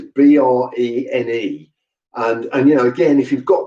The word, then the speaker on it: Brené: Brown is spelled as you'd expect, but Brené is Brene.